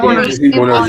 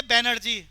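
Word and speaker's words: Banerjee: सर ऋषि अब बनर्जी। देखो pronunciation क्या है। अब दिल्ली वाले तो बोलेंगे बैनर्जी, लेकिन बंगाली बाबू बोलेंगे बनर्जी।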